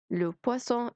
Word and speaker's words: poisson: le poisson السمك اللي هي ب تقيلة.